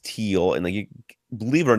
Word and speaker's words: Thiel: Fred did let us know that Thiel is pronounced teal, and believe it or not, I did know that. I just forgot. It's a German word. That's why you have to. It's a silent H.